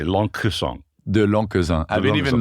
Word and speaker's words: Lencquesaing: you're not going to hear the C they're just going to roll over it yes yeah yeah but it sounds like youd like to say long song the long I've been